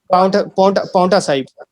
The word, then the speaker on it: Paonta Sahib: How would you pronounce that? Paonta Sahib.